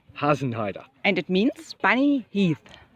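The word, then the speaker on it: Hasenheide: Susan you can do the correct pronunciation of the Berlin Park run which is has an Haider hasn't Haider and it means funny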